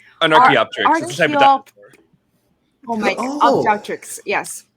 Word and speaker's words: Archaeopteryx: I'm having a trouble pronouncing this Yeah, word. an Archaeopteryx. It's a type of dinosaur. Oh my god, Oh. Archaeopteryx. Yes. Archaeopteryx.